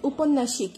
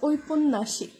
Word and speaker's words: ঔপন্যাসিক: বলি না, আমরা বলি উপন্যাসিক, এটা ভুল উচ্চারণ করি, এটার সঠিক উচ্চারণ হচ্ছে ঔপন্যাসিক।